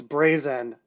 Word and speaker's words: Brazen: Resources yeah I mean just for clarification and on pronunciation uh it's Brazen but great question no